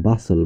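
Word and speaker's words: bustle: নিয়ম 23, শব্দস্থিত এসটিএল এর উচ্চারণ হয় সল, এখানে টি অনুচ্চারিত থাকে, এসটিএল থাকলে উচ্চারণ হয় সল, যেমন বি ইউ এস টি এল ই, এই যে টি এল ই এর উচ্চারণ বাসল, বাসল অর্থ হলো অতিশয় কর্মব্যস্ততা।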